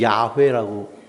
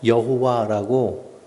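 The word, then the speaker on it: 야훼: 하나님에 대한 기억.이 이 구약 성경에 하나님을 야회라고 표현돼 있고요.이 야회라는 단어를 서양 사람들이 발음을 잘 못해서 여호와라고 이렇게이음을 늘린 거죠.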